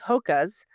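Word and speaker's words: Hoka: I know that a couple people in my gym classes, they use hocas. I think that's how you say it. H O K A.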